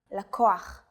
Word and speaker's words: לקוח: But in some cases, the stress is on the second to last syllable of the word. לקוח, נוסע, מתלבשת.